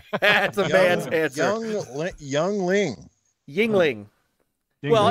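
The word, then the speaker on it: Yuengling: Youngling. Yes. Light or regular? Is there a light? Yes. Okay. Regular, of course. That's a man's answer right there. That's a man's answer. Youngling. Yingling.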